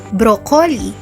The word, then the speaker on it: broccoli: Ang bigas sa salitang yan ay broccoli. Broccoli. Sarap nung ulam. Merong halong brocoli. Yun yung karaniwang naririnig natin sa mga kapwa nating Pilipino. Subalit ang tamang bigkas sa salitang ito ay pakinggan ninyo. Broccoli. Ulitin ko.